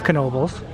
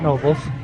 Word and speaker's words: Knoebels: it wrong all day it it is Knoebels it's not novels so sorry about that